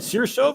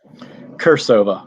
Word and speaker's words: Kirsova: Is it Sirsova or Kirsova? Kirsova, hard C.